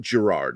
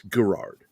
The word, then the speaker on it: Gerard: My name actually does come from something. It's the original pronunciation of Gerard. It's not Gerard, it's Gerard. And Gerald. And for some reason, somewhere between the 19th and 20th century, they turned it into a soft G when it was originally